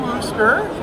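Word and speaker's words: Worcester: it was created um it was created in wooster the direct pronunciation of the booster shirt uh wooster's little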